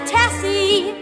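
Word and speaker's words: Tessye: it's yet or perhaps my second name that's Tessy spell t e s s y e what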